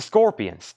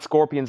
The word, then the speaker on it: Scorpions: It's the Scorpions.